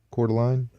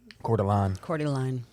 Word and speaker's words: Coeur d'Alene: northern Mississippi yeah it's spelled like the city in Idaho Coeur d'Alene quarter line quarter line according line yeah okay